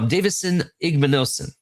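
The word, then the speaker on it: Davison Igbinosun: Um I'm going to talk about uh Davidson Davidson Igmanosen.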